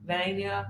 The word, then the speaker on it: Vania: And she told me to pronounce her name like Pennsylvania. Vania.